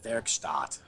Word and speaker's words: Werkstatt: Well, I speak a little bit of German, so I say Werkstatt. Yeah. Werkstatt. I'm liking it. Yeah, but we say craft work here in America, so you could say Werkstatt.